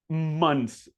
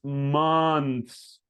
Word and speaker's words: months: Months. So it's not months. It's not months like an O. It's months. Months. Does that make sense? Months.